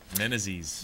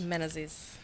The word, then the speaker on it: Menezes: Menezes. Menezes coming in.